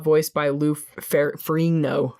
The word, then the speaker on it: Ferrigno: So, this is the first time the Hulk was not voiced by Lou Ferrigno. Ferrigno.